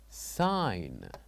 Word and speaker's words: sign: So by uh saying this word sign. What do you think the silent letter is? Is it G, G, H, K or H? Very good. We said that in this word the silent letter will be G.